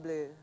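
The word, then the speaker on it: Bleu: like blue no blue b l EU U but it's pronounced blue blue yeah the lon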